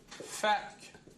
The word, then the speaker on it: fait que: vont dire souvent « fac ». « Fac que », ça, vous allez l'entendre. Et parfois même des gens qui vont faire un « fac » sans prononcer le « e ».